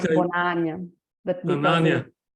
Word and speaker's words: Bonany: those of you that have never met Bonany. Is that how I pronounce it correctly? Not really. It's like Okay. Bonany, but because Bonany. Bonany, Okay.